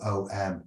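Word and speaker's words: Ogham: Or OM or AUM. The word is similar to Amun or Amon. The Irish alphabet is called Ofam. This word is, however, pronounced Om.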